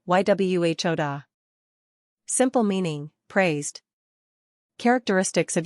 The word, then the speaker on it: Yehuda: Pronunciation, Yhuda.